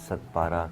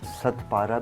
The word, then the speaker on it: Sadpara: आज हम बात करेंगे मोहम्मद अली सदपारा के हवाले से। उनको सदपारा भी कह सकते हैं, ते से, और सदपारा भी, दाल से भी उनको प्रोनाउंस करते हैं।